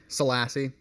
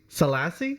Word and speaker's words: Salassi: culture and we're doing it today with salassi did I I pronounced that right right salassi salassi oh really I've I've said it wrong for